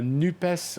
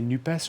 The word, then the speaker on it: NUPES: Joining us here in the studio, we're with Claire Lejeune, environmental activist, member of the NUPES, a left-wing coalition. Does one say NUPES or NUP? Which is the correct pronunciation? Whichever.